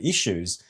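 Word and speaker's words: Issuu: And I didn't know until yesterday that you can actually find all of the issues on a website called Issue, funnily enough. It's spelled ISSW.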